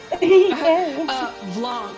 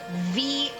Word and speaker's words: Blanc: I have been saying it VLONK, but it absolutely should have been BLANC, and it was I right thought it there was in front of me.